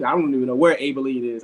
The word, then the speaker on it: Abilene: don't even know where abele is i just know that it rhymes with maybelline all right so uh